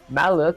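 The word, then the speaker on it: malloc: Uh when I code and see I don't use pointers or malook is how you pronounce it.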